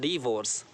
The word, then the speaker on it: divorce: और इसका जो रॉन्ग प्रोनाउंसिएशन लोग बोलते हैं डाइवोर्स बोलते हैं, डाइवोर्स नहीं होता बल्कि ये होता है डिवोर्स, डिवोर्स। ओके, क्लियर हो गया। डी पर स्ट्रेस देंगे, डिवोर्स।